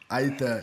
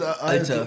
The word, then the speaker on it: Alter: Aita, as my German people say in Nuremberg. Aita. How you say it? Alter.